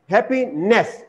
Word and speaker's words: happiness: will say it as happiness so then the stress falls on the third syllable which is totally wrong so you should come to know that here stress falls on the first syllable happiness ha happiness in same way